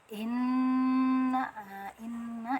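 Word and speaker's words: إِنَّا: Inna ini ada nun guna. Nun guna itu nun yang ada dengungan, jadi kita cara bacanya ditekan dulu karena ada tasdid, kemudian didengungkan, didengungkan sampai rongga hidung ya. Nah, lama dengungannya bisa 2 harokat atau lebih, seperti tuh.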